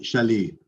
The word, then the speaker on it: Chaly: Is it? Am I pronouncing your surname correctly? Oh, hi, this is Simon, everybody. It's Chaly. Chaly.